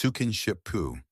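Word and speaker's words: スキンシップ: It is known as skinship, pronounced sukinshipu.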